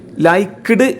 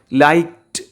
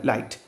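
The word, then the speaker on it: liked: ലൈക്ക്ഡ് എന്ന് വായിക്കാനുള്ളൊരു tendency ഉണ്ടാവും. പക്ഷേ ഒരിക്കലും നമ്മൾ ലൈക്ക്ഡ് എന്ന് പറയാൻ പാടില്ല. അത് തെറ്റാണ്. ഇംഗ്ലീഷിൻ്റെ അകത്ത് കറക്റ്റ് ഉച്ചാരണം ലൈക്ഡ് എന്നാണ് കേട്ടോ. ട് എന്നുള്ള ഉച്ചാരണം അവസാനം വരിക അവിടെ. ലൈക്ഡ് ബീങ് കോൾഡ് രാജ.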